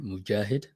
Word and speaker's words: Moghid: So it it is a Arabic name. So Mhm. it's pronounced Mujahid. But I do go by.